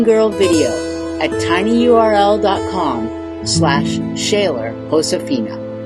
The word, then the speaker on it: Josefina: that would be um josefina like jose or jesus that kind of thing when you see a capital j um and it's a